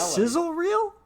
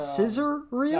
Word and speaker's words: sizzle reel: It is sizzle reel. It's not scissor real.